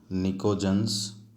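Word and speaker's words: pnictogens: So this is called nitrogen family and also called nicogens, where P is silent.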